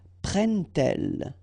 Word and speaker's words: prennent-elles: But then here, prennent-elles, okay? So you get your T and then prennent-elles, all right?